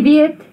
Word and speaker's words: weet: En toe, soos, jy weet. So remember, the soos is not soos. You don't pronounce that double O as a oo.